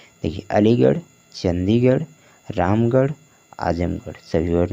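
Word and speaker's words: Chandigarh: दिख रहा होगा तो आर एच को उ चरण किससे करना है आपको रा से करना है ठीक है देख अलीगढ़ चंडीगढ़ रामगढ़ आजमगढ़ सभी वड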